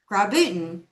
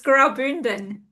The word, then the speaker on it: Graubünden: And make sure that you sell grabutin. Gra. See, I can't say it right. It's very hard. It's grabon. Yeah.